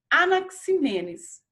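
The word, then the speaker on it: Anaxímenes: o nome aqui falando né como que se pronuncia então é anaximandro e anaximenes e heráclito heráclito e nós temos aí quatro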